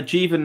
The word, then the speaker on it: Jeevan: Uh Jieven is the correct pronunciation.